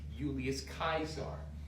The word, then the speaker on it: Julius Caesar: from the Latin udum actually there were no J's in Latin there were only I's so that's why it